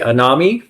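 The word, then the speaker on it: anomie: enemy an an n o m i e anami yeah so phys drained like you you've lost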